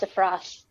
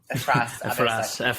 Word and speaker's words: Efrat: Efrat? It's even better. Sheldon's pronounced Efras. Efras.